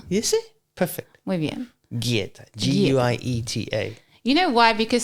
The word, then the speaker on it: guieta: So I assume that it was like more of a hueta. Okay. Yeah. It's like guitarra. Guitarra. G-U-I. Yeah. Guieta.